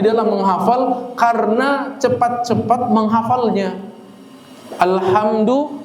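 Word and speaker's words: الحمد: Alhamdu dibacanya alhamdu harusnya pakai ha tipis, dia pakai ha tebal.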